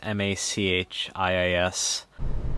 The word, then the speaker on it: Machias: I wasn't able to look up pronunciation of Machias, but it's M-A-C-H-I-A-S. Machias. It's pronounced Machias.